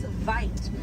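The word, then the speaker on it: wyd: Original word for white rhino was vite. Vite means wide in Afrikaans, but over time it was misheard and mispronounced and it turns into the white rhino.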